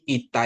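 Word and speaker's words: ιώτα: Terus untuk iota Oke iota iota i ya, jadi iota ini ini sering kan kita dibilang e gitu ya e gitu ya tapi kita pakai i iota iota itu seperti i dalam latin ya terus tita itu t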